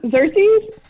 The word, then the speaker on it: Xerxes: how you pronounce it there's no k it's not a k it's cersei's it's xerxes watch the movie that's how it's pronounced he was a person